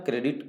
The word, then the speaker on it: corps: तो NCC का full form correct answer होगा नेशनल कैडेट कोर। कोर का स्पेलिंग लिखते हैं CORPS, बट पढ़ते हैं कोर, इसलिए ध्यान रहे सी वाले से, बाकी सभी गलत हो।